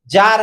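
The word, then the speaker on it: tsar: जो silent word यहां टी एस ए आर जार है यहां टी साइलेंट हो गया जार रूसी शासक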